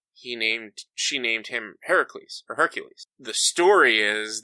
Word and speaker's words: Heracles: and it's it's actually it's Heracles is what it's how it's supposed to be pronounced so the reason and